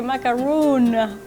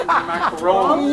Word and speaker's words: macaron: That looks like a macaroon for sure. From here. I think it's pronounced macaron.